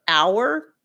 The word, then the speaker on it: hour: Um, I said other forms, other words with a silent H are hour, air as in HEIR, okay?